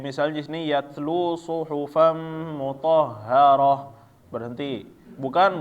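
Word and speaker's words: مطهرة: Nah, ketika ta marbutoh maka dia bacaannya tetap berhenti menjadi ha ya. Ya, waqaf. Kayak misalnya di sini yatlu suhufam mutahharah, berhenti. Bukan mutahharatan atau mutahharata.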